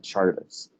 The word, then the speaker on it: Czardus: And so then we have this name of Czardus, which a lot of people from Eastern Europe say that I should be pronouncing it like Chartus.